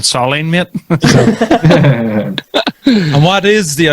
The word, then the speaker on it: Solene: wondering how it is you pronounce it. What are we talking about? Solene? Soline. Soline.